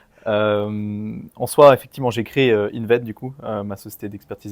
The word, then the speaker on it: Inved: Tu es le fondateur de Inved, c'est bien juste, je l'ai bien prononcé.